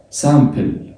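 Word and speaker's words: simple: اتفقنا ان الاي ام، ان الاي جه بعدها ام تبقى سم ولا سام؟ سام. سامبل، سامبل، سامبل، سامبل.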